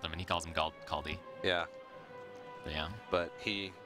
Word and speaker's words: Kaldi: So Kaldi goes with the Kaldi. Okay. Yeah. He told me how to pronounce it. It's like the DI at the end is not D. It's like the DI in distance. Kaldi.